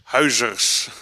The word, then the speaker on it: Huijzers: Yeah, welcome to the talk of Huijzers. Did I pronounce it correctly? It's close. Huijzers.